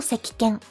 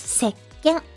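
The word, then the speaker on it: せっけん: So soap is not a sekiken. It's seken. Because when you say sekiken, kike, it's a bit like difficult to say. So seken is much easier to pronounce.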